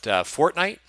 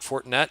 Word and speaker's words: Fortnite: I pronounce everything incorrectly, but Fortnite, not Fortinet, not the security company.